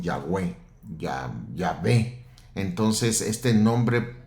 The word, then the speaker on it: Yahweh: Con el tiempo le pusieron la A de Adonai, la E de Elohim y le llamaron Yahweh, ya Yahweh.